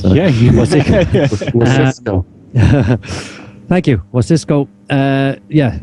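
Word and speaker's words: Wasicsko: Yeah, Wasisco. Thank you, Wasisco. Yeah, it's pronounced like it's written, as he says in it.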